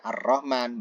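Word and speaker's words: الرحمن: lamnya dihilangkan bacanya Rohman Nah kalau ada Alif lamnya ar-rahman Berarti ar-rahman di situ adalah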